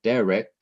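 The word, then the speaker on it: דֶּרֶךְ: The last syllable in derek is the syllable rek.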